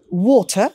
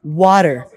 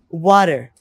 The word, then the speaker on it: water: you know so they would not say um water they would pronounce it like water so you see the difference they're pronouncing it like water so that's the difference they just change the